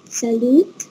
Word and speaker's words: Salut: ياسين هنا محمد بونجور سالوت سابا نو سالو سالو ما ننطقش التي مش بننطق التي بنقول سالو سالو Salut, ça va?